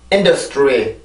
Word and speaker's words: industry: 어쨌든 틀리는 발음인데, 이 발음을 해줄 때는 입술이 R 발음의 영향으로 tree 이렇게 발음이 됩니다. 아시겠죠? 그럼 단어 다 발음을 해볼게요. industry.